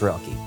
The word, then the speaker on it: Roelke: corner and been like how do you say his last name it's pronounced rocky i'm the worship and